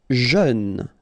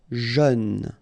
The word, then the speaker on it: jeune: Jeune, final E not pronounced, but then EU together, jeune, jeune.